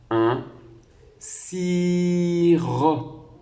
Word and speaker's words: sirop: Et enfin, un sirop. Et la dernière syllabe ro est attachée au P que l'on n'entend pas, qui est une lettre muette.